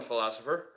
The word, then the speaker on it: Pholosopher: So, how's it going, Philosopher? It's philosopher, just like Philosopher. the main word.